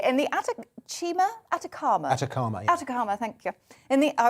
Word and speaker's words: Atacama: chile in chile in the attic chima atacama atacama thank you in the i was going with the italian pronunciation in the atacama desert um there's just